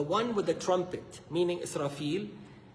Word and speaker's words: Israfil: Israfil, if you want to say it right.